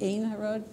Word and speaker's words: Ein Harod: Ein Harod. Thank you. Bob Walter's here to help out in the pronunciation.